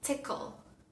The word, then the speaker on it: tickle: palabra, nos aparece una vocalcita accesoria para poder pronunciar la palabra correctamente. Ejemplo, ankle, ankle, tobillo, ankle. La palabra tickle, tickle.